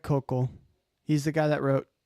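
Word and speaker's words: Koukl: I think you say it focal I think is the um it's Greg Kokal.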